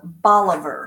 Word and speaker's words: Bolivar: the east side and it is spelled like said like all of her like our dog only has to be in the front and the instead of ER it's AR bolivar and it's it's county seat